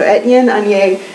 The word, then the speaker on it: Etienne Aigner: Some of you guys messaged me with how to pronounce that. So Etienne Aigner.